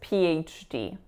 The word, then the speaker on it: PhD: it's a lax I, and then the third syllable is a schwa again. Admission. The next word is PhD.